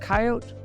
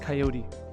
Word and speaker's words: coyote: Is it coyote or is it coyote? Okay, so regionally, people pronounce the word coyote. So it's the Coyote Twin Theater. But where I'm from in Michigan, we would say coyote.